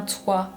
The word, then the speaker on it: toit: lettres muettes de éation comme un toit avec le T qui ne se prononce pas les lettres meettes de